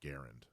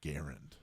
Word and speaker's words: Garand: back it was going to say actually it's pronounced Garand oh that's a good one see that's a